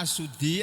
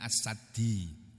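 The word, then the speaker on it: As-Suddi: Nih diterangkan maksud ayat ini janji akan ditanyakan maksudnya qala asuddi ahli tafsir asuddi bukan sudi silalahi tapi asuddi ahli darangan tabiin itu ada namanya assuddi ada yang bacanya asaddi.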